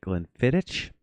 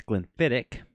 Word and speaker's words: Glenfiddich: I I've heard people pronounce it Glenfiddich. I mean, that's I mean, that's kind of how it's spelled, but it's Glenfiddich. The the C and H in Gaelic is a hard C.